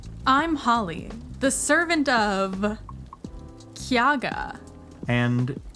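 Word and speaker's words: Cyaegha: Hi, I'm Holly, the servant of Kyaga. And as far as Chaosium is concerned, that word is pronounced Sayaga.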